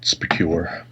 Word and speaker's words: SPQR: It's pronounced Specure.